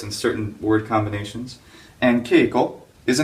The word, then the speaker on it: Keiko: And keiko is a name. Remember, the way we make a long e sound is we add this hiragana for e, right? Ke-i, keiko, keiko. For the syllable ni, we're